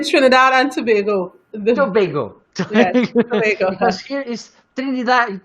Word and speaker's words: Tobago: Yes, Tobago.